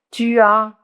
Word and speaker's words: tu as: Tu as, tu as, no la escriben la S, pero no la pronuncian.